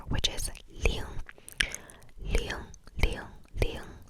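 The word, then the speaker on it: 零: 0, 0, 0, 0, which is ling, ling, ling, ling, ling, or L-I-N-G, G, L-I-N-G, L-I-N-G, L-I-N-G, ling, ling, ling, ling.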